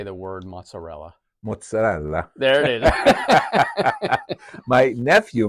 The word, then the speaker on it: mozzarella: lot how do you say the word mozzarella mozzarella there it is my nephew married into the